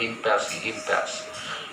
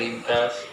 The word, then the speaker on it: impasse: Whenever they reach an impasse, the pronunciation is not impasse. Whenever they reach an impasse, they look to someone to show them the way out.